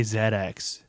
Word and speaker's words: ZX: always remember to say zedx it's typed CX how do you remember Tyler h i I'm not is it like a British pronunciation for it is that why it is a British it is yeah and and it